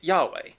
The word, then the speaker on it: Yahweh: Translating the Yiddish to English, you end up with the consonants YHWH. So pronouncing that phonetically, you get Yahweh.